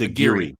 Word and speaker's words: Aguirre: We have Payton Talbott going against Nick Aguirre. We got Talbott. He's 25 years old, 5'10" with a 70-inch reach. Nick, am I saying that right? Aguirre? Aguirre. It's Aguirre.